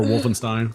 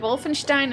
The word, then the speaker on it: Wolfenstein: of games I played Wolfenstein and dune don't say it like that Wolfenstein Wolfenstein don't one don't say it in German he's going to try